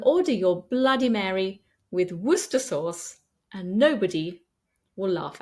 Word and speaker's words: Worcester: It looks like it has far more syllables than that, but we don't pronounce them. Just Worcester.